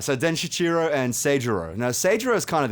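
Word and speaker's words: Seijūrō: tangent about Den Shichiro, as per Stanley's official pronunciation. Den Shichiro and his brother, Seigero.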